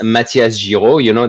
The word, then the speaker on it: Matthias Giraud: people can't remember or pronounce Matthias Giraud. That's the French way of saying my name.